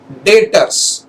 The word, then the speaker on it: debtors: Next is debtors. D-E-B-T-O-R-S. B is silent. Debtors.